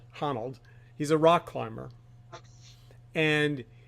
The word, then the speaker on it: Honnold: young man his name is Alex I always mispronounce his name huh Honnold Honnold he's a rock climber and he he well